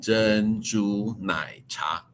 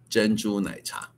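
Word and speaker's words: 珍珠奶茶: It in Chinese pronounced Zhen Zhu Nai Cha.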